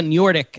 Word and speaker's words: Noordyk: special treat for you today special guest njordik am i pronouncing that correctly yes okay excellent ceo and